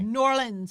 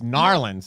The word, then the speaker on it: New Orleans: You said it wrong, Tiffany. New Orleans. It's Narlands. Narlands.